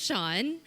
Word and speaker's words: Shawn: today so hi everyone my name is Shawn and it's pronounced as Shawn I know a lot